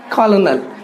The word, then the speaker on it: colonel: सो the correct spelling is COLONEL, colonel, which is also said and pronounced colonel।